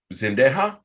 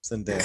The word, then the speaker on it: Zendaya: Am I saying it wrong? Zendaya. Zendaya. Oh my god. He is the kicker for the Rams. Sorry, I always get him confused. I'm putting the emphasis on the wrong syllable.